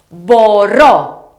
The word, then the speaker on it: μπορώ: Let's learn the verb μπορώ, which means I can. To conjugate this verb, let's make sure that we stress the last syllable of the verb. Let's have a look. Μπορώ, μπορείς, μπορεί, μπορούμε, μπορείτε, μπορούν.